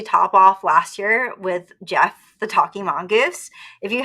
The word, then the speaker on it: Gef: I think it's on our YouTube channel and definitely on our podcast, where I talked about Jeff, or GF, because it's spelled GEF, the Talking Mongoose, who was extra sassy.